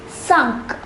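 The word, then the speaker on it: cinq: next set of numbers the number five is pronounced as sunk repeat with me sunk the number six those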